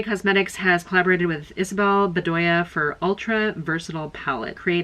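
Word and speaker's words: Bdoya: designed by isabelle biddya that's how you always know somebody's a reader because they don't know how to pronounce anything illuminati cosmetics this is an eyeshadow palette collaboration with isabelle bedea bedoya oh it's b-d-o-y-a it's not b-e-d-d-y-a illuminati cosmetics has collaborated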